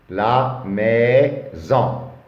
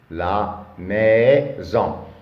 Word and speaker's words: maison: La maison. La maison ici S entre deux voyelles se prononce Z.